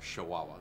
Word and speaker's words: Chihuahua: This particular tribe comes out of Chihuahua, or how they say it in Mexico, Chihuahua.